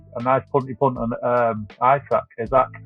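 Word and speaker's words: Isak: captaincy could be a nice punty punt on Isaac. How do you pronounce it? Yeah, Isaac.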